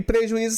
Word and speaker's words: prejuízo: Prejuízo, o I é tônico, o I é formador de hiato com a sílaba anterior, que é a sua vogal, o U, e ele também é paroxítona. Por quê? Porque ele fica a sílaba tônica na penúltima sílaba, ó.